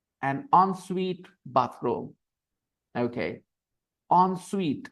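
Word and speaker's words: en suite: an onsuite Shar and on Suite bathroom okay on Suite how do you pronounce it onu on the pronunciation is a little funny on Suite okay it is spelled e NS UI T but we pronounce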